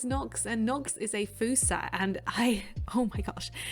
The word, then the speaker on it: fossa: uh uh it's spelled f-o-s-s-a right so you think oh it's a fossa bed it's not it's a foosa uh because it's not an english word i think um but